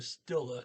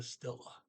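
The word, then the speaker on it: stille: do speak german um it's the stila not the skill like in german it'll pull that little sh sound in between the s and the t like german does it's just the stella okay then sometimes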